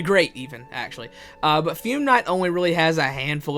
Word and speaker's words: Fume Knight: Number 18 is the fume knight. There we go. I finally said it right.